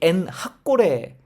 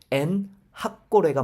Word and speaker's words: 엔학고레: 여기 엔 학고레, 어떤 분이 이게 엔학고레 이렇게 발음을 하는데 엔 학고레가 맞습니다. 엔이라는 게 셈이에요.